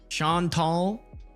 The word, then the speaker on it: Chantal: Is it is it Shantel Chantel? Shan Tall. There you go. I like that one. The French way.